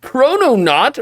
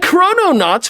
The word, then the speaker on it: Chrononaut: delicious doughnut in fact chrono knot rhymes with doughnut mmm but is it